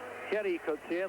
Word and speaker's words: Gerrie Coetzee: And there's Gerrie Coetzee, they pronounce that in the Dutch Afrikaans fashion.